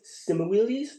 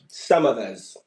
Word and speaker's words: Semmelweis: I'm going to need a little bit of help with the pronunciation. Ignaz Simuelis? Samavez.